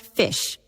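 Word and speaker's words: ghoti: joke could be pronounced fish. How? Take the gh from enough which sounds like f, the o from women which gives i as in wyman.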